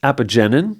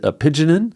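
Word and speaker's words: apigenin: So, we both take Namn, we both take apenine, he pronounces it a pigeonin, which uh there are a few things like I say vitamins, he says vitamins.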